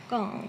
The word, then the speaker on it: Gong: Is this pronounced Gong? Gong, yes.